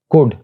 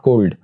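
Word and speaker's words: could: इसी तरह वुड नॉट वुल्ड, कुड नॉट कोल्ड।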